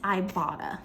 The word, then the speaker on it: Ibotta: But what I use, and this video is not sponsored, guys, but what I use for my grocery planning is Ibotta, the Ibotta app, which is spelled I-B-O-T-T-A.